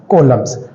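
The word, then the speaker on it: coulomb: कॉलम्स। Pronunciation के अंदर आप कूलाम भी बोल सकते हो।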